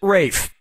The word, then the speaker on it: Ralph: attention yep ray fine's first name is spelled like ralph but pronounced rafe and his brother joseph